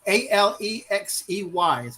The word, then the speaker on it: Alexei: Alexei, Alexey is how it's.